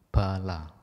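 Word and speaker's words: bāla: Nah, yang mirip kata yang lain adalah B-A panjang L-A, bala, artinya dungu atau bodoh.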